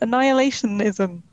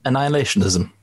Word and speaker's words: Annihilationism: Annihilationism. Is that how I say it? Annihilationism. Annihilationism. It feels like it should have another syllable in there, but it doesn't.